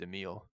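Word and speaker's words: Emilie: I think her name's pronounced Emile.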